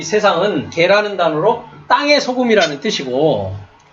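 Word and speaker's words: γῆ: earth를 이제 한국말로는 세상이라고 하는 건데 사실 여기는 코스모스가 아니라 이거는 개라고 읽습니다. 감마 에타 해갖고 개.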